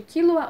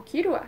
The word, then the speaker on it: Killua: esses 3 personagens, que são chamados de Killua ou Kirua, dependendo de qual pronúncia você quer usar, o Kurapika e o